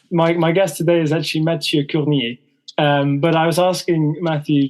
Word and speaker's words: Mathieu Curnier: For the French-speaking contingent of our listeners, my guest today is actually Mathieu Curnier. But I was asking Matthew just now how the pronunciation works, and apparently Kernier is fine in English.